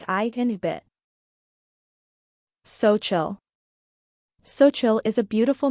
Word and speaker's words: Xochitl: Xochitl is a beautiful name of Nahuatl origin, which is spoken by the indigenous people of Mexico. It means flower. The X sound is pronounced like sh in English, making it a delightful